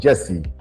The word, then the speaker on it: Gyasi: It's Jessie. Jessie. Jessie. See, it's not even spelled Jessie, but Jessie.